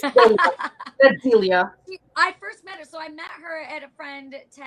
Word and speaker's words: Delia: I love Julia, not Julia. Say it right. It's Delia.